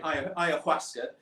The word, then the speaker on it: ayahuasca: You pronounced it perfectly, by the way. Ayahuasca.